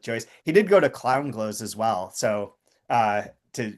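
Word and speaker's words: Clongowes: He did go to clown glows as well. So uh to Higgins so there's a there. He went to where? How do you say that? A clown goes.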